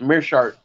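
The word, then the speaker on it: Meerschaert: Okay, I had to hear the pronouncing. It's Mearshart. Yeah, I didn't think that could be correct. That's what I was saying. I figured I was wrong, but I guess it is right. Yep, Gerald Mearshart.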